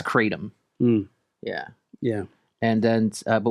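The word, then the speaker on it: kratom: it like and also in art am I pronouncing that right it's Krum right katum katum thank you it's katum yeah yeah and then but what were you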